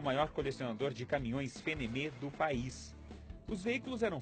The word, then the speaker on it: FNM: O F vira Fê, o N vira Nê e o M vira Mê. Daí, Fenemê.